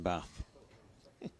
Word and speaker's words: Bath: Castleford and RP, as my old pal Malcolm Roberts opined, there's no R in Bath. Bath.